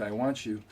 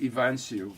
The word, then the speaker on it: Iwanciw: the time so well you do have a name that is pronounced I want you so that all work